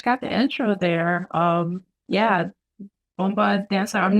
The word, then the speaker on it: bomba: a boomba dancer? A bomba dancer? How do you say that? So it's bomba.